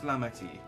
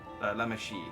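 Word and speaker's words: Lamaty'i: How is Lamati? Lamashi, that's how it's pronounced now.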